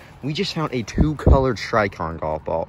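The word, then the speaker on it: Srixon: We just found a 2-colored Shrikon golf ball, or Shrikson is how it's pronounced, but I like calling it Shrikon because that's better.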